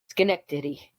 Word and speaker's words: Schenectady: The Capital District's DDRO is in Schenectady.